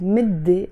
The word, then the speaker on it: مدة: So when I use the word midday on its own, I don't pronounce the T مربوطة.